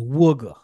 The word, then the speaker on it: Wooga: say his name right but it is woger wer wer it's part of the the the Philly accent but no if you